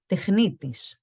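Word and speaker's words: τεχνίτης: In Greek, we say technitis, technitis.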